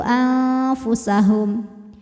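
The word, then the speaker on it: أنفسهم: Cara bacanya nun disamarkan ke fa disertai bunyi dengungan. Jadi ujung lidah kita, ujung gigi seri atas kita sudah menyentuh bibir bawah bagian dalam makhraj dari huruf fa ya. Sudah menyentuh tapi tidak menekan.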